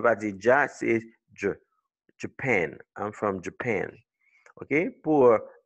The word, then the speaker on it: Japan: You pronounce it Japan. You see the IPA symbols? L'accent, c'est sur la deuxième syllabe, pen.